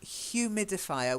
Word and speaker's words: humidifier: Then humidifier. We actually aspirate the H. Humidifier. Okay, humidifier. So it's a humidifier because it's aspirated as ha.